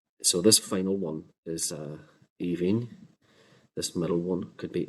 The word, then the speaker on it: Aoibhín: could be pronounced as Aoibhín. The double N at the end in modern Irish can give length to this so this could be Aoibhín.